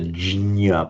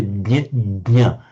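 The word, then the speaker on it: jña: ñ form, you know, I used to pronounce it very clumsily before I learned better as a jinya, but it's not. Um it's pronounced more like a jnya.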